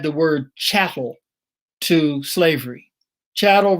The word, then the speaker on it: chattel: word chattel to slavery chattel rhymes with cattle and sometimes we think